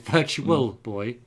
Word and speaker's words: Virtual Boy: I'm trying to say virtual and not virtua, like Americans would say, but it's Virtual Boy.